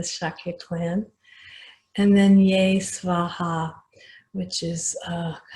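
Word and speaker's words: स्वाहा: And then Ye Svaha, which is like so be it. So Om Muni Muni Mahamuni Shakyamuni Ye Svaha. Sometimes that's pronounced Soha, but either way, Soha or Svaha is okay.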